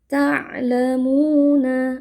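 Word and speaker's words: تَعْلَمُونَ: Ta'lamuna. Nah mu di sini dibaca panjang dua harakat ya.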